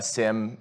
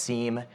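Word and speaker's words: SIEM: going to be using a Sim or sometimes you hear it pronounced seam either way it stands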